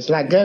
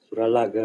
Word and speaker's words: Suralaga: Selage kok Madura bacanya. Selage. Suralaga bukan lagi.